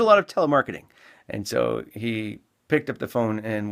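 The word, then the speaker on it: Eash: parish there was a delightful old couple that had a slightly unusual name their last name was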